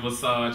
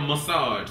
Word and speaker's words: Visage: I love Michelle Visage, and I'm finally saying her name right because I've been spending years calling that lady Michelle Massage, so I'm finally saying it right.